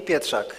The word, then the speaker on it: Pietrzak: What is the perfect pronunciation of your name? Pietrzak. Okay, Pietrzak.